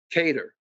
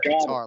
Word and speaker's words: Kattar: hey for 50 bucks pronounce calvin's last name correctly right now cater i am sending you that 50 because you said guitar last time you know ian parker's